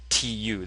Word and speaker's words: 土: of itself, it means the ground, and it's pronounced 土, tu.